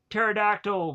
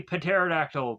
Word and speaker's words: pterodactyl: like instead of saying pterodactyl we say pterodactyl because it makes no real sense because the p is silent so not saying that